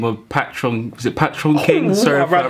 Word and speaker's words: Patoranking: There you go. I'm about to pronounce it. Patron. Patarankin. It's Patarankin. Patarankin. Patron. Okay, I am a patron.